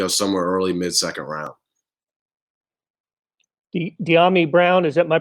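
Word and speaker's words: Dyami Brown: De'Ami Brown, am I pronouncing that right? Yeah, De'Ami Brown, yeah.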